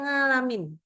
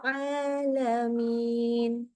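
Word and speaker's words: العالمين: Kadang-kadang seringkali bacanya jadi sengau. Akhirnya kadang-kadang ada kalau beberapa daerah tertentu di Indonesia yang kita bacanya jadi NGA. Nga. Rabbil alamin. Atau Rabbil alamin. Jadi kayak ngalamin. Nggak boleh ya.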